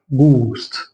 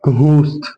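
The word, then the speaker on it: ghost: اللي بالاحمر مش هيتنطق فهنا اقول ايه جوست مش هقول كوست مش هنطق الاتش مش هقول الهاء اقول جوست جوست هنا اقول ايه جو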